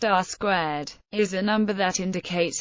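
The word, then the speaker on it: R²: R2 or R2 and pronounced R squar is a number that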